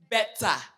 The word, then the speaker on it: Betsa: How do you say it? Betsa.